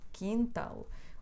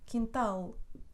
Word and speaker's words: quintal: sílabas duas duas aqui segundo a regra o acento deveria recair na penúltima mas não dizemos animal o quintal ou funil não porque acabam com ele o acento recai na última sílaba portanto dizemos animal quintal funil da Claro e